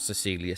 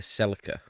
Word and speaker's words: Celica: we're going to do Celica isn't it oh pronounced not Cecilia Celica we're going to do